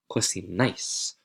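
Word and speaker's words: cocináis: Vosotros, this one is tricky to pronounce. Make sure you add the correct stress based on that accent mark. You're going to take the root, which is cocin, add ice, and you get cocinais. Cocinais. The stress is on that syllable with that accent.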